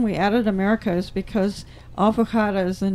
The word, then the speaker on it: Alvorada: First, I'll pronounce it Alforada America, and Alforada is ALVO, like Alvo, and then RADA, like Rada. Alvorada. Alvorada is Portuguese.